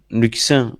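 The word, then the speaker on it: Luccin: La semaine prochaine, Luxin, on prononce comme ça? Ok, d'accord.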